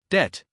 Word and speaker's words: debt: The B is silent. We say debt Example He paid his debt.